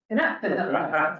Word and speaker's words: Canuck: Canuck. Oh, sure. Rhymes with hockey puck.